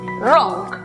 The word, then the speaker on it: wrong: La palabra equivocado, por ejemplo, que se escribe, notamos que hay W antes de R al comienzo de la palabra, por lo tanto es muda.